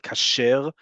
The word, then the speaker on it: kasher: We talked about kasher last week, right? Kasher is the modern Hebrew way that we say kosher, right?